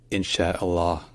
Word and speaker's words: Inshallah: but it's mostly silent so put it all together and it's insh Allah in Allah or sometimes in but again the U at the end is mostly silent so let's practice together